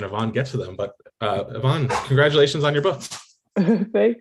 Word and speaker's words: Y-Vonne: But Y-Vonne, congratulations on your book. Thank you. And just a quick note, it's pronounced Y-Vonne.